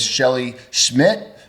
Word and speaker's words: Shelly Szmyt: Her name is Shelley Schmidt, right? Did I pronounce that right?